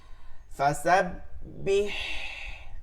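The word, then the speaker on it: فَسَبِّحْ: হা জের ফির ওয়াস্তাগফির ফাসাব্বিহ এটাকে একটা জিনিস খেয়াল করবেন অনেকে পড়ার সময় ফাসাব্বিহ এরকম বেহ হয়ে যায় এটা যেন না হয় চিকন করতে হবে বি ফাসাব্বিহ বিহামদি রাব্বিকা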